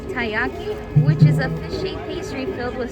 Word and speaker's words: taiyaki: In front of Mom is the taiyaki, which I guess I was pronouncing right according to the cast member.